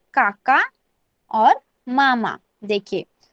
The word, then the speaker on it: काकी: KAKI, काकी.